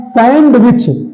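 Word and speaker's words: sandwich: अगला है सैंडविच। ये सैंडविच नहीं होता है, सैंडविच होता है।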